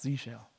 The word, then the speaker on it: zsh: summarize we are getting Z shell it's pronounced Z shell bash three-bin bash is